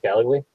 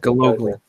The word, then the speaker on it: Galogly: Oh, what's it, Gallagly? Is that Stephanie? Is that how you say it? Gallagly. Yeah. Galogly. Gallagly? Galogly. Oh, so the O is long.